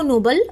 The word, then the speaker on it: Nobel: तो जो नीचे वाला है नो बेल इसमें जो बेल है इस पे हमें स्ट्रेस डाल रहे हैं।